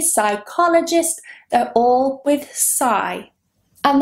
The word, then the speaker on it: psychologist: For example, I'm a psychologist, but it's not C, it is psi. That beginning, PSY, is always psi in English. Psychology, psychotherapist, psychotherapy, psychologist, they're all with psi.